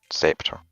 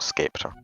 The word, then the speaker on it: scepter: sea is uh the the sea is is silent in in scepter it's just scepter not scaptor just so you know